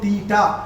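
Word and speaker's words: theta: तो इसके अंदर we will write this one एज टी एच ई टी ए, इसको जो है ना टी एच साइलेंट पढ़ते हैं अपन, थीटा बोलते हैं इसको।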